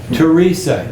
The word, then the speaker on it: Teresa: names there Mario and Teresa these are very common Hispanic names Mario Mario Mario Mario and the next one Teresa even though it starts with th it's pronounced Teresa Teresa very common name back